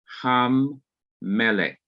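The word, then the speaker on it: הַמֶּלֶךְ: center of mem, producing ham melech, Hammellech. Ham-melech. And of course, you have the accent here, indicating that this syllable is to be stressed.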